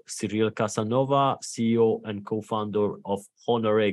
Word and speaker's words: Cyril Casanova: pleasure of having with me on this call serial Casanova CEO and co-founder of Honore gaming serial am I pronouncing the your name and Company correctly perfectly